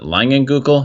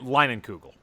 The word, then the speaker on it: Leinenkugel: Summer Shandy, especially the is it Langenkugel? Is that how you pronounce it? I'm not from the Midwest. Leinenkugel.